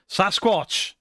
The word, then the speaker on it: Sasquatch: Sasquatch. That's where the spelling came from, I reckon. Mainstream media anglicized the pronunciation and called it Sasquatch.